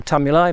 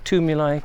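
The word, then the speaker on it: tumuli: lion tomb you lie people have different ways of pronouncing it I prefer tummy lie but a lot of people say to me like because I suppose it sounds like tombs and they are ancient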